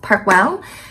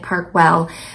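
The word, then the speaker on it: Park Güell: she say it parkw parkwell it's spelled gu e l l but she was pronouncing it parkwell but we did not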